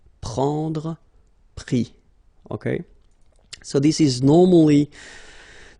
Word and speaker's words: pris: Prendre, pris.